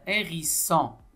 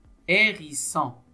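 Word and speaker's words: hérisson: deuxème image c'est un hérissant hérissant hérissant on a h accent dans la première syllabe qui se prononce hérissant hérissant hérissant encore une fois je rappelle que la lettre H ne se prononce pas ça c'est un habillement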